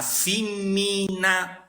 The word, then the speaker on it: fimmina: dirà a fimmina Prena sentite bene che sto pronunciando a fimmina Prena cioè Tutte le vocali sono toniche Sì ragazzo siciliano che